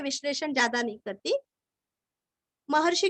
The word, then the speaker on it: महर्षि: महर्षि का सिर्फ शी रस्व लेना है।